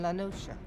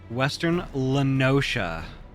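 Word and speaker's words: Western La Noscea: tidde Gate in Western lanosa half Stone was called Western lenosa okay I've been saying that wrong this entire time Western lenosa wow Loos yeah I've been I've been pronouncing it lanosa some years prior to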